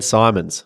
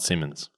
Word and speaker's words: Simons: Number 2 is Dan Simons from Golf Australia, People and Culture Manager. Not Simmons. Not Simmons.